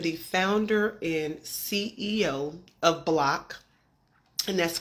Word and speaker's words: BLCK: say that again BL when you're thinking about block you can think Airbnb minus the lodging fee